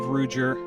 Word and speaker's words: Ruedger: So my name is Ruedger. And I've been in the industry for quite a while now. So, for those who know me, that's the preferred pronunciation.